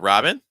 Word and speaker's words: Robin: expecting that all right so we have Robin ah sounds so again Ro it's more raah same thing with Oliver